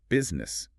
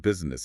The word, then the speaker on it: business: Another one is business. It's not business, it's 2 syllables. Business.